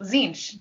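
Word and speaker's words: Tzeentch: Rhymes with Minch. Oh, Zinch.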